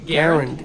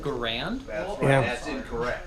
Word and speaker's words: Garand: it is pronounced impressed you know how to pronounce the name Garand yeah I know you and a lot of people pronounce it Grand I am something I'm